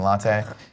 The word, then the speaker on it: latte: The word of the day is latte. Damn it. Or latte, as Kevin wants to say, the American pronunciation, latte.